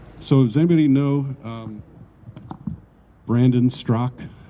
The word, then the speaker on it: Straka: So does anybody know Brandon Strzok? His last name is spelled Straka, S-T-R-A-K-A, but it's pronounced Strzok.